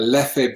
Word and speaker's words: Leffe: A Leffe Blonde that's come out, which is excellent. Or Leff, I should say. Leff, not Leffe. Get the pronunciation right, Leff.